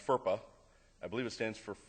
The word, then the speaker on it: FERPA: It's pronounced FERPA.